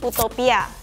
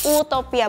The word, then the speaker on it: Utopia: horashop Pagani adalah Pagani Utopia ya pronounceationnya Utopia Bukan Utopia karena dia tetap pronunciation Italia mobil ini seharga 2,2